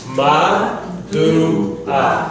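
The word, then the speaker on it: מדוע: So, ma, du, a. The ayin is silent.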